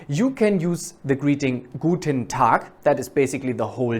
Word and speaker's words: Guten Tag: Pronounce Guten Tag really like that with ta. Guten Tag.